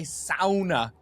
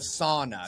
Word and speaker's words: sauna: That's why I say sauna instead of sauna, because annoying. I know how they say it in Finland, and I'm not gonna do some dirty American.